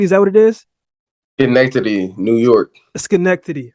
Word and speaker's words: Schenectady: Schenectady, New York.